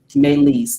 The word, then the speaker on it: Meleys: Meleys, thank you.